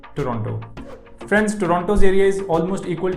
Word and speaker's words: Toronto: the people of Toronto, never ever pronounce the second T in Toronto. Instead say Toronto. But for this video, I will stick to my natural accent and say Toronto.